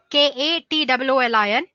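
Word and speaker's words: katoolin: Let me spell it for you guys. It's Katwoolin.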